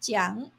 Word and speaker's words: 讲: The Chinese word "讲" (pronounced jiǎng) is similar to 说 to mean to speak, to tell or to say.